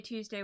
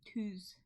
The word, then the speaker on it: Tuesday: I say Tuesday, like toos, like tooth. But I think that's just my accent, which I don't have